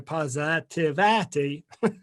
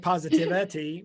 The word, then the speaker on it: PositAVity: So PositAVity, PositAVity, phonetically. It's here on the screen right now. We want you hashtag PositAVity with an AV, PositAVity.